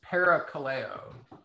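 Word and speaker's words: parakaleo: or um it's it's para Kaleo so yeah Cara's alongside Daniel just wrote it on the thing thanks Daniel Kaleo sounds like call okay I just wanted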